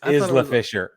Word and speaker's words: Isla Fisher: feel like they are the Amy Adams and Isla Fisher of baseball that if they're not standing next to each other they look a lot alike right yeah it's Isla it's Isla Fisher get out of here get out of here